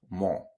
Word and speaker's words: mot: And you finish with your round lips, mot. Okay? You don't say mo, but you say mot.